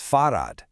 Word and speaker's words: Fahrrad: A bicycle is das Fahrrad. So now we're back to our neuter article, das. The pronunciation can be a little tricky.